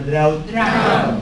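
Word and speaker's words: drought: الاو تنطق ايه؟ يعني النطق عكس الكتابة. النطق ايه؟ عكس الكتابة. تكتب او وتنطق ايه؟ تتنطق بقى دروت ولا دراوت؟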